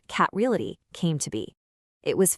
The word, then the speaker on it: KAT Realty: And that's how Kate Reality Group, and by the way, it's pronounced cataly came to be.